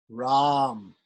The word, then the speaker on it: Ram: So for instance, we have the word Rama. We have the name Rama. So the bija for Rama should be Ram. R long A with the Anushwar, Ram.